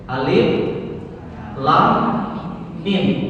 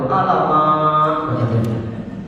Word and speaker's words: Alif Lam Mim: Dibacanya surah Al-Baqarah ayat yang pertama itu alamak. Padahal mestinya Alif Lam Mim, ya.